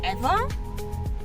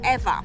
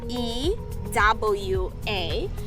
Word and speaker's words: Ewa: Another thing that people don't know, and for example, Ewa, the neighborhood. Ewa is spelled E-W-A. So if from the US mainland, you pronounce it Ewa. But in Hawaiian language, W in the middle is pronounced V.